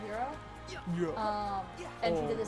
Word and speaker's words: Hiro: Oh, the fact that Honey pronounces Japanese words with an actual Japanese accent, with no American accent at all. Because she always says Hiro instead of Hiro.